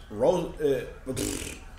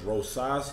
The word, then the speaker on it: Rosas: name is he clean no okay it's not Rose my brain farted I mispronounced the man's name earlier is Rosas Jr pardon me you know sometimes well oftentimes